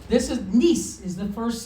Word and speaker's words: Nissi: Now, we have the nun and the kirik. That's where we get the ni from. Right? Okay. But we also have this samek with this dagesh in. So what we need to do is take that single letter and we're going to turn it into two of them.